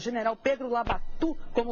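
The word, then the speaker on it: Labatut: E chamava Labatu. E chamava Labatu, não era Labatu, não. Porque a pronúncia lá, no jeito francesa, é Labati.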